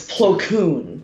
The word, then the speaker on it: Plo Koon: 5, I think I mispronounced it though, because I say Plo 3. Koon. It's Plo Koon. 1 Plo more. Koon. Plo Koon.